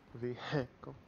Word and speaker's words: vehicle: Vehicle. Some people think the H is silent, but it's really not.